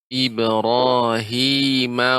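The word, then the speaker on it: إبراهيم: Latina ya apa namanya terutama pengucapan pada huruf ro Oh dia getaran lebih sedikit ya Oh ini sudah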